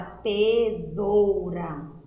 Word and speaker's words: tesoura: com esse só que na hora de pronunciar a palavra Tesoura o som sai com z é casado tô aqui